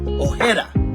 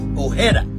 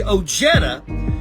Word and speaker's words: Ojeda: is actually pronounced Richard Ojeda Ojeda the J has the H sound I am Hispanic the reason why we say oh Jeddah is because when my